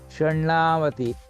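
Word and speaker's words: षण्णवतिः: Now this shat has become now Shannavatihi. So it is na with another na coming there, or double n I have used here.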